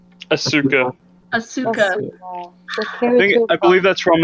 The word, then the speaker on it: Asuka: Asuki. Is that how you say her name? Asuka.